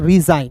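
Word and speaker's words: resign: फिर देखिए दोस्तों यहां पे आर इ एस आई जी एन तो इसे हम लोग पढ़ेंगे दोस्तों रिजाइन।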